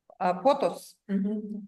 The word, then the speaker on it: Pothos: Pothos. Потос. Следующий препарат. Потос. Потхос пишется. Потхос пишется. Потос. Потос.